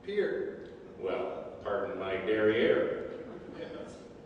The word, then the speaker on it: Pierre: Well, Seth, the French name for a town in South Dakota would just be profoundly wrong. That's why we pronounce it Pierre.